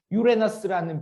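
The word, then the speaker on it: Uranus: 오늘 배우는 것 중에 유레너스라는 별의 이름이, 그 유레너스를 이제 우리 정확하게는 우리나라 애들이 그렇게 안 읽는데 일본 애들이 그렇게 읽죠. 그 스펠링 그대로 우라노스 이렇게 읽어가지고 우라노스라는 이름이 많이 알려져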